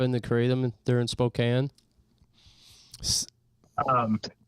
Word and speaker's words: Spokane: I didn't say Spokane. That's good. You're doing great. I I saw the comment where it was like dude said Spokane. It's pronounced Spokane.